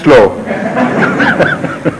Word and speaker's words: Slough: And which my private secretary insists should be read slow, because whenever someone is from Slough, he always writes it slow.